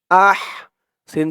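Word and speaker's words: أحسن: আহ ফি আহ আহ হার উচ্চারণটা গলার ভিতর থেকে চিকুন হয়ে আসবে আহ সিন জবর সা আহ সা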